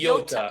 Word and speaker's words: Yotta: YODDA or YO how do you spell it? Yota.